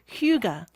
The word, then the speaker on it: hygge: culture of, okay, I'm going to try to pronounce this correctly. Okay, go ahead. Okay. Hygge.